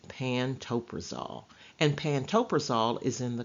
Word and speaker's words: pantoprazole: generic name for Protonix is pantoprazole it is pronounced pantoprazole and pantoprazole is in the class of drugs